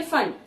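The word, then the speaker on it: Pfund: And FED fund, but here it is P fund. ठीक है, जिसको हम प्रोनाउंस कैसे करेंगे फंड.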